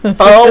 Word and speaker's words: pho: You said You said pho correct.